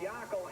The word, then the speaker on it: Yackel: 5 in the 2 spot is Monty Yackel. Got to say his name like that. It's Yackel in the second.